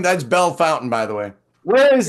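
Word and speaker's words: Bellefontaine: the tiniest little of towns nobody can even pronounce the name that's Bell Fountain by the way where is it right here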